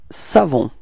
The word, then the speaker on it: savons: Now it's nous, and then we get this nous savons. Repeat. Nous savons. Okay, final S not pronounced as usual, so you get the final on.